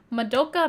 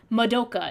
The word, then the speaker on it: Madoka: But anytime you watch like a English like video essay about the show, they always say Madoka instead of Madoka. And it just drives me insane.